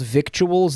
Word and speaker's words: victuals: My Did you know it's spelled victuals, not viddles?